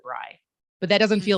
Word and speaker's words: Brey: we were talking about everyone pronouncing my last name is brae instead of rye but that doesn't feel